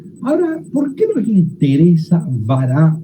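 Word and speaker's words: ברא: Yo puse cómo se lo pronuncia en hebreo, vará.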